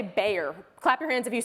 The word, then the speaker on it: Bayer: this one I say Bayer clap your hands if you say Bayer thank you thank you okay I think the German thing is yeah well I think so buyer being the German pronunciation which do we have